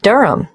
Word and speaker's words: Durham: At 1 Uranga Street, Durham. How do you spell Durham? D-U-R-H-A-M. Of course, I should know that. But it's just one of those names that sounds quite different from the way you spell it.